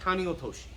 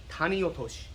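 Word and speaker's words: tani otoshi: taneotoshi a lot again we've put a lot of emphasis on the wrong syllable here and they say tani or toshi and it's not quite right you could get the point across again but it's tani taniyotoshi almost like you're taking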